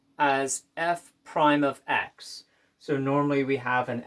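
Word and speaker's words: f′(x): and we're going to denote it this is pronounced as fime of X so normally we have an F ofx we're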